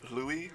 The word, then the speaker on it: Louis: character we meet is louis rui however you want to pronounce it they use both both both as acceptable and he's uh he's